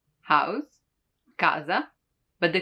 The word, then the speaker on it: casa: When K is followed by A, O, or U, it stays as a hard sound.